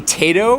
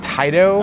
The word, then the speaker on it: Taito: everybody corrected me and I used to say tato instead of Taito and everyone was corrected